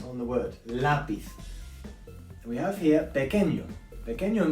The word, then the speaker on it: lápiz: Because of the little accent we have above the A, okay? This is where we stress on the word, lápiz.